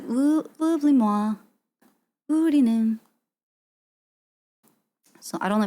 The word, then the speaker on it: oublie-moi: Oublie-moi. Oublie-moi? Oublie-moi. Oublie-moi. Oublie-moi. I don't hear L there. Oublie-moi. Oublie-moi? Oublie-moi. It's like oublie-moi?